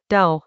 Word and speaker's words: Dao: Dao, pronounced Dao as a now, is about a particular